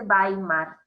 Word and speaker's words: Weimar: 1919 y se vas a amar república de weimar se escribe way mart con w pero se dice bailar porque se llama república de weimar porque se